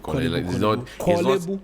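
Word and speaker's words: Korle Bu: But we've kind of It's like not Kolebu. Kolebu.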